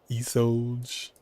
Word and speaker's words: Isolde: It's like pretty much how you say her name. Isolde. Oh no. Isolde. It's like he sold almost.